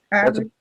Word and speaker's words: Herod: But I think most names that we do say in Naskapi that begin with H, we don't even say the H. Jack. No, Herod.